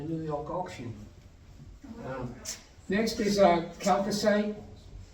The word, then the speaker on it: chalcocite: Next is chalcocite. CH is pronounced K for Greek-speaking people.